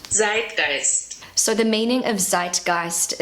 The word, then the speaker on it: zeitgeist: a native German speaker my pronunciation is not perfect so this is what it sounds like on Google Translate zit gist so the meaning of